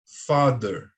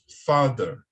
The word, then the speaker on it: father: Father, father.